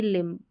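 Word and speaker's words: limb: बिना a moving any लिम moving any लिम यहां पर देखेंगे ये जो बी है यह साइलेंट होगा लिम का मतलब हाथ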